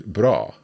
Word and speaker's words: bra: So this is a shorter sound, so "vacker" as opposed to "bra".